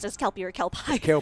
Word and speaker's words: Kelpie: So, at this point, I think we are still trying to decide whether it's pronounced as Kelpy or Kpai. Kelpie. It's literally pi. P I E.